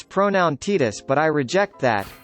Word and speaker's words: Tidus: I acknowledge that Square Enix says it's pronoun Titus but I reject that it's pronounced Tidus why would a character who has